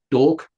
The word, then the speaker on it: D'Orc: So that's that that's Dork. It's spelled D uh apostrophe o. So it's like an orc with a d in the front. So dork.